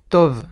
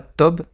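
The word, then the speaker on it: טוב: Donc le bet, pourquoi je dis Tov et pas Tob? Parce que la lettre bet, si elle n'a pas de point au milieu, eh bien tout simplement elle se prononce comme un V.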